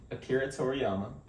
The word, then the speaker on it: Akira Toriyama: talk about so what what happened uh so Akira Toriyama you know he's uh he passed and so that's how you pronounce that okay I didn't know how to